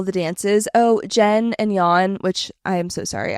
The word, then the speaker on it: Jan: Oh, Jen and Yan, which I am so sorry I had been pronouncing his name incorrectly. I was saying Jan like an absolute rookie.